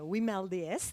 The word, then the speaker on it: WiMLDS: to congratulate the team all the team of we mailed yes that's the way we pronounce it and for the this initiative and